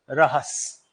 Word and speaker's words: रहस: रास लीला कहते थे तो वह रास लीला को प्रोनाउंस करते थे रहस सो नाउ वी कैन